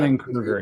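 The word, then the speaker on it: Dunning-Kruger: Because I think even like you were mentioning the Dunny, how do you pronounce that? The Dunning Dunning Kruger.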